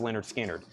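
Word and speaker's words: Lynyrd Skynyrd: Your Leonard Skinner Analog Productions came in, $69.99 for pronounced Leonard Skinner.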